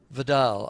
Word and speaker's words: Vidal: mining industry in general, we're joined by Vidal, I think it is, rather than vital uh from the New Zealand Minerals Council and she joins us now. there are two ways of saying vital or Vidal.